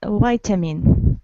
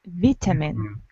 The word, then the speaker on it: vitamin: you're right so uh american variant is vitamin and british variant is vitamin so uh i'm going